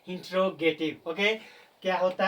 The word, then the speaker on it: interrogative: It's called इंटेरोगेटिव नॉट इंटेरोगेटिव। बहुत सारे student इसको इंटेरोगेटिव इंटेरोगेटिव बोलते हैं जो इसका प्रोनाउंसिएशन नहीं है। इसका करेक्ट प्रोनंसिएशन है इंटेरोगेटिव।